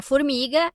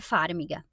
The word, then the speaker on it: Farmiga: Se eu estiver pronunciando errado, vocês já estão acostumados, porque eu falo da Vera Formiga e é Farmiga.